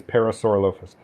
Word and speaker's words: Parasaurolophus: that's a parasaurolophus or if you want to pronounce it that way but the normal way is parasaurolophus um yeah he was wrangling that did they